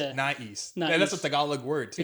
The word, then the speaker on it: nais: this uh brand called nice nice but it's not East right cuz it's a tal word right and it's spelled